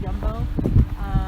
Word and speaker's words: Jumbo: like a jumbo but they pronounce the j's y so it's jumbo i see they're getting